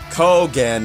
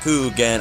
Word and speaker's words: Kogan: nathan chris and jay kogan not coo again i'm sorry for my